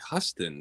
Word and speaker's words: Huston: as misspelling I mean it just looks like Huston to me like I don't know why you would call him Houston well I don't know